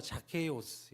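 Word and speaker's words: Ζακχαῖος: 읽으면은 제가 이렇게 영어를 잘하진 못하지만 그냥 이렇게 발음만 들어주세요. 아니 그러니까 말만 들어주세요. 뭐라고 아까 누가 얘기하셨어요? 맞아요. 자케이오스 이렇게 읽어요.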